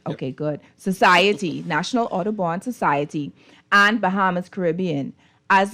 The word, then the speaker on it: Audubon: organizations such as the Bahamas National Trust, National Audubon, did I pronounce that right? Yep. Okay, good. Society, National Audubon Society, and Bahamas Caribbean.